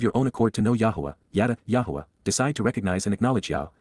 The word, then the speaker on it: Yahowah: reveals naam announces in advance of it occurring Yahwa Yahwa God's personal name pronounced as guided by his Torah instructions on